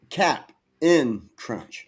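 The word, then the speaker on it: Cap'n Crunch: thought Captain because that's how we always pronounce it. But Yeah. it's never been spelled Captain. It's always been Captain Crunch. Cap in Crunch.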